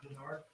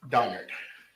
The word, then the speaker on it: Donard: last name uh it's donard d o n n a r d and last name Johnson j o h n s o all right thank you it's it's Don not Berard donard I need to apologize